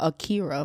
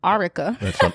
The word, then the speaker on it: Arika: I almost called her Akira for some reason. Arika.